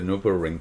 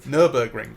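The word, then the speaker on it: Nürburgring: Oh, what is it? Nurburg Ring. Nurberg ring. Nurber ring. Excuse. It's German.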